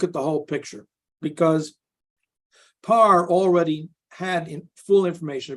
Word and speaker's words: Pare: it's called It's pronounced you'll hear the name Parr but it's spelled p-a-r-e like pear par now